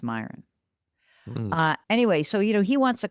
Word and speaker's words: Miran: Don't spell your name Miran and pronounce it Myron. Don't do that to us. Did you say Mirren? I thought it was Moran, which is what I